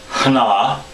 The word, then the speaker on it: Ꮒ: Now this one has a special pronunciation. It's hna. I have an H sound at the beginning, hna.